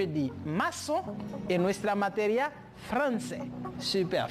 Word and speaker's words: français: La que tiene abajo se llama cedilla. Por lo tanto, se pronuncia como si fuera una S. Por lo tanto, je dis maçon et nuestra materia français. Super, français.